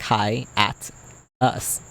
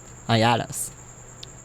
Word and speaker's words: hiatus: It looks like hi at us. Hiatus. No, but it's hiatus.